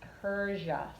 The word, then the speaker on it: Persia: Yeah, that's pronounced Persia. So that S makes a Z sound.